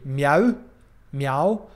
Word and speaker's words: mjau: M-J-A-U, meow, meow, pronounced the same, but spelled very differently.